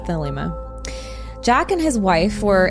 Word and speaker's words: Thelema: The llama. Did I say it wrong again? No, that's how I say it. The llama. Oh, the llama. Thelema. I think it's Thelema. It's Thelema.